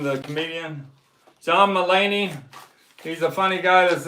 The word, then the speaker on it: Mulaney: John Mulaney.